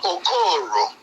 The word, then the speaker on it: Okoro: I know it's spelled like O-K-I-O. But the pronunciation is different. Dr. Okoro.